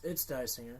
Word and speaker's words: Disinger: How do you pronounce it? Come on in here. Say it for us. Come on. It's Disinger. Disinger.